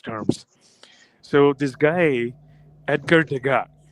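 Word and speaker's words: Degas: So this guy Edgar DGA d e g- a s actually s is silent. So they were featuring DGA's whatever works.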